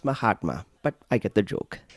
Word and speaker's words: Mahatma: my hot man gandhi it's pronounced mahatma but i get the